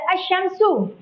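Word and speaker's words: الشمس: Cara bacanya yang syamsiah itu huruf alif lamnya melebur atau tidak dibaca. Kita langsung ke contohnya. Di sini ada asyamsu.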